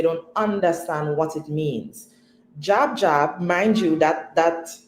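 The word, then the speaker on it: Djab: Jab. Jab. Mind you, that that phrase starts with a D. The D is silent.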